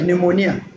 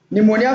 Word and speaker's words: pneumonia: you have words like pneumonia pneumonia for an instance starts with P so but but the P there is silent so and we have